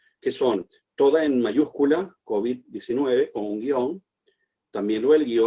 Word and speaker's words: COVID: en estos últimos meses, que la pronunciación más extendida es COVID, es decir, una pronunciación aguda y no grave.